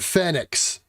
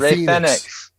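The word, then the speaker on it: Fénix: gotta say it fast now we get fenix instead of fenix um we gotta pronounce it like the spanish do why correct us after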